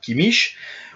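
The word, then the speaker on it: Kimmich: et sûrement pas sweinsteiger le C quant à lui peut se prononcer h un ch collé contre la langue comme chez Yoshua Kem ou Yoshua kimich ou comme re similaire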